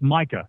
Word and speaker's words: Micah: I think you've got it. It's Micah.